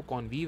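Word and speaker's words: convive: इसको कॉनवाइव भी बोल सकते हैं, बट जो करेक्ट एक्चुअल प्रोनंसिएशन है वो कॉनवीव है। ऐसा नहीं है कि आप कॉनवाइव बोलेंगे तो गलत होगा, बट सिंस इसके रूट को अगर हम ध्यान रख के प्रोनाउंस करें तो ये कॉनवीव कहलाता है।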